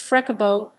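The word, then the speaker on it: frescobol: beaches of rio is called frescoball pronounced freckabot a type of beach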